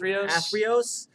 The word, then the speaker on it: Athreos: Yeah, and we see there an Atheros. Is that how you pronounce her name? Athreos.